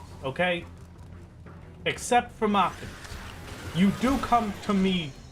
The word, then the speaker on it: Machinist: I used to pronounce his Mechanist and now I can't pronounce it correctly ever. You can't pronounce it incorrect, you mean? Because pronouncing it Mechanist is incorrect. It is Machinist.